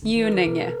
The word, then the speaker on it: Unenge: It's Unenge.